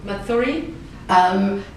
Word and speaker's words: Mathuri: Mathuri? The best way to say it is Mathuri. So Mathuri. like mother with an E at the end.